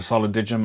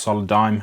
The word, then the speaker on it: Solidigm: start of the video I called it solid Digimon I believe it's pronounced solid dime I'm so sorry for